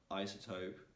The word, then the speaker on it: isotope: s like a z also there are some exceptions in which that's s is in between two vowels but you don't need to pronounce it like a z but as a as an s so for example in the word episode in the word isotope you need to pronounce it as as an s not like is that uh you